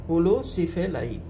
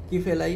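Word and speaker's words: Holocephali: होलो मतलब एंटायरली, सिफेलाई का मतलब सिर पर है ना, होलो सिफेलाई की फैलाई नहीं, सिफेलाई स्पेलिंग में उच्चारण के हिसाब से कुछ बुक्स में इसको की फैलाई लिखा हुआ है, ये होलो सिफेलाई होते हैं।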